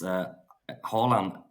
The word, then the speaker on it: Haaland: It's Haaland or Haaland Anthems.